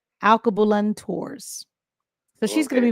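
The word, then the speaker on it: Alkebulan: Uh, Alabulang. Alabulan. Am I saying it right? You're like, I don't know what that is. Alab, it's in Africa. A L K E B U L A N. Alcabulan Tours.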